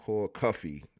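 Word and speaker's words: Cuffe: The name is Paul Cuff pronounced like Cuffy.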